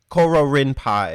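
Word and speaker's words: Kororinpa: that is underrated is koro rinpa koro rinpai if you don't know how to pronounce japanese spelt with a k as in carrot not c carrot that carrot like is in gold but anyways uh coral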